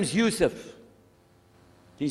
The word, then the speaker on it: Yusuf: la my name is Yousef did you say Yousef who said Yousef you're very good I wish you teach my wife she keeps mispronouncing it she calls me useless alhamdulillah now how many of you were in